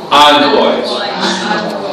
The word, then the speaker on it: envoys: Envoys. It's almost like AHNVOYS. Envoys.